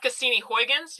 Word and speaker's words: Cassini Huygens: Then we have Cassini Huygens. Yes, that's how you pronounce it.